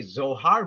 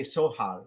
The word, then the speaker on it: Zohar: Yes, for example, in English we say Zohar, but you're German, you could confirm it. They say Sohar with the letter S.